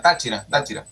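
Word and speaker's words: Táchira: So it's I already forgot the pronunciation. Tachira, right? Yeah, Tachira.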